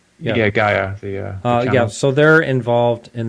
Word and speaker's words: Gaia: Do you know how that's pronounced? Yeah, Gaia.